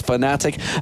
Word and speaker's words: Fnatic: there as well but they're saying fanatic is spelled that slightly wrong but it is fanatic they've shown great strategies